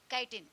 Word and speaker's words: chitin: Chitin means chitin. Pronunciation chitin.